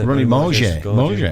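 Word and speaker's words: Ronnie Mauge: How do you pronounce his name? Ronnie Morgier.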